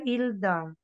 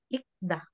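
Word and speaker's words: 읽다: po siya Pwedeng palitan hindi siya ilda kasi itong itong ang Ano itong ang consonant na ito is pasok sa second letter sound so ito lang ba bibigkasin mo So magiging ik da ik da Ah maior po yung ano yung real oo hindi po siya babasahin kasi pasok siya sa second sound Kaya nga mas okay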